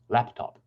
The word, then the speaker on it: laptop: So in laptop, it tells us it's on the first syllable, laptop.